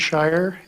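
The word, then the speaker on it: Scheuer: My name is Shy and I live at 9746 Bennett Road, Nampa.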